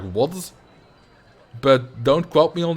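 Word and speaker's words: Łódź: a dash through it, I think it's pronounced more like a W? Like, for example, the town Lodz isn't pronounced Lodz then. It's more, would be more pronounced like Wodz.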